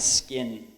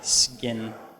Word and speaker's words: skin: Just try to pronounce it as a B. Everyone try to say sky and skin. No k, sky. Just say SG, sky, skin.